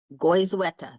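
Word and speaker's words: Goizueta: Am I saying it right? Goeta Goyeta. That's correct.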